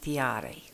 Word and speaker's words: Tarea: And if you go to Tahiti, they'll pronounce it Tiare. And it's hard enough to say Tarea, so we'll just stay with that. It's a unique name, much